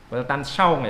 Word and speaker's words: Weltanschauung: Weltanschauung ya bacanya ya, saya ngerti bahasa Perancis tapi saya pernah dengar ada orang yang berasal dari Perancis itu bacanya Weltanschauung itu.